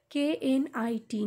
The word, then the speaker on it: knit: will start with neet knit neat here k is silent and neet meaning and